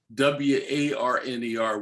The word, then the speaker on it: Warner: And in Pennsylvania German, W-A-R-N-E-R would be pronounced Warner, not Warner.